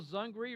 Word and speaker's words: Zungry: And Zungry, rhymes with hungry, which is what they want you to be when you come to the festival in a couple more weeks.